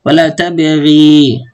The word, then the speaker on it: ولا تبغ: هنا الأصل في ياء، ولا تبغي في ياء بعد إيش؟ بعد حرف الغين. فبالتالي أنا بما أنه مش مرسوم حرف العلة، فبأقف عليه بحذف حرف العلة، يعني ما بنطقه، فبقول ولا تبغ.